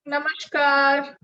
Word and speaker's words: namaskar: Good morning, namaskar.